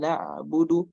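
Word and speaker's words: نعبد: Maka ain sukun di sini harus ada perpindahannya sedikit, jedanya sedikit antara ain dengan ba. Sama yang tadi terjadi di bismillah sinna ya. Bismillah. Nah, ain juga begitu. Harus ada jedanya juga. Cuman bedanya sin dengan ain ini, kalau sin dia agak lebih lama, kalau ain cukup sebentar saja. Iyyaka na'budu, iyyaka na'budu wa karena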